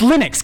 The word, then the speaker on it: Linux: Well, there's like a right way to say that. It's Linux, guys.